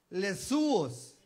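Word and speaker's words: Ἰησοῦς: en el idioma original Jesús en griego es lesos es l e s O U S si usted se fija no se escribe yeshua y tampoco se se escucha como en el idioma original Pero el hecho de que en el griego se escriba así y se escuche les no significa que sea diferente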